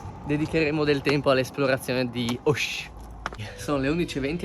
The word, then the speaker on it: Auch: Abbiamo scoperto che non si dice Auch, ma si dice Auch.